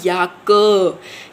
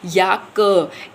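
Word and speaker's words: Jacke: तो जैसे अब ये वर्ड है तो इसको कैसे हम प्रोनाउंस करेंगे? याक। याक।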